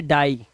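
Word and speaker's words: die: हमारा कह रहा है जब किसी वर्ड के लास्ट में आई ई आए, अभी तक तो ई आई चल रहा था, अब आई ई आए तो उसका उच्चारण आई हो जाएगा। जैसे डाई, ठीक है, क्या हो जाएगा, डाई।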